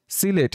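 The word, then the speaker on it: Sylhet: অর্থ থেকে, SYCLHET late, সিলেট এখানে এইচকে সাইলেন্ট রেখে আমরা উচ্চারণ করব সিলেট অর্থ সিলেট।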